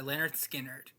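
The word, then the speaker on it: Lynyrd Skynyrd: It's April 13th and today I listened to Pronounced Leonard Skinnard by Leonard Skinnard. Clearly, they anticipated people having trouble pronouncing the name. Leonard Skinnard is one of the classic rock giants.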